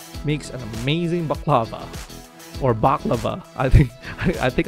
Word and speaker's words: baklava: an amazing baklava or baklava i think i think i mispronounced that one too instead of baklava i think it's baklava there you go it's also